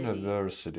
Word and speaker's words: university: University. Then we have two University. unstressed syllables that will be flat, lower in pitch University.